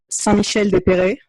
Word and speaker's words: Saint-Michel-des-Perrets: If anyone wants to check it online or to look at photos or anything, it's called Saint-Michel-des-Perrets. And now we'll spell it because that will not make a lot of sense for people.